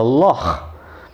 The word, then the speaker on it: loch: was a guttural sound, like in the Scots dialect when they talk about a lake, they call it a loch.